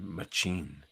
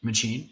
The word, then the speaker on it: machine: Donald Pierce, cyborg, part human, part superpowered machine. I don't know if you knew that's how it's pronounced in Canada. Machine? Machine, yeah. Machine.